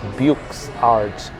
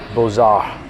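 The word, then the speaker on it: Beaux-Arts: It's actually French. BAR actually is written as Buches Arts. And for the longest time I thought that's how it's pronounced, Buches Arts. But it's actually BAR.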